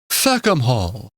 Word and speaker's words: Fackham Hall: Facam Hall. You got to say it like that.